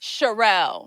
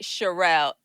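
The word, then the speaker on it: Sharrell: And I need your name like formally so I don't mispronounce it either. Charelle. Most people call me Shay, but Charelle.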